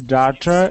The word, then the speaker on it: daughter: So they're all pronounced with the ah sound. And the thing to remember is that your lips don't wrap up into a W afterwards. You don't go ah, ah. It's not like that.